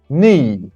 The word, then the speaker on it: knee: three back number four knee everybody K is is silent knee number five feet number